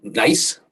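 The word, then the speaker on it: gneiss: to pronounce it but nice G NEISS that's right nicer nice yes in fact Alex spelled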